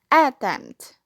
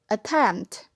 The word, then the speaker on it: attempt: If in a weak syllable, it must be attempt. And from here, we can know that this is the correct pronunciation.